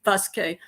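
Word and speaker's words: Vasque: The boots that I'm completely in love with are called Vesque. Vesque in Spanish, you wouldn't pronounce the V, you'd pronounce it B, but V-A-S-Q-U-E, Vesque. And these are the Vesque boots that I wore in the Camino.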